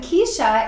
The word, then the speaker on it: Cyshia: Yeah, so that's Keisha spelled CYSHIA. Yes, it is. Yes, it is. How she pronounces it that way, I have no idea.